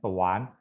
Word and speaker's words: 短: Ini tetap baca A ya, karena ini bukan si apa? Si emak atau si yang, maka kita tetap baca A di tuan. Teuan tuan, tuan. Di sanseng nada ketiga ya dibacanya tuan.